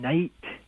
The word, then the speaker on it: night: And we get silent letters in night, the GH there. That sound is a guttural sound from Old English where they would say nicht.